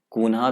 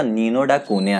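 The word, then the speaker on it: Nuno da Cunha: अब ये नीनो डा कूनिया भी प्रोनाउंस कर सकते हैं, बहुत लोग कून्हा भी प्रोनाउंस करते हैं, कोई कोई सून्हा भी प्रोनाउंस करता है। तो आप कुछ भी प्रोनाउंस कर सकते हो, बट पोर्टुगीज प्रोनाउंसिएशन इसका नीनो डा कूनिया है, तो मैं वही प्रोनाउंस करूंगा।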